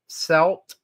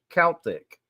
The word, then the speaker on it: Celt: Irish is brought up the words selt and Celtic or celt and Celtic are bound to be